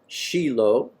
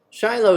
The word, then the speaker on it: Shiloh: of the israelites assembled everybody knows that one is Shiloh but it's actually sheilo Shiloh is modern Hebrew sheilo is the ancient Aramaic pronunciation take your pick the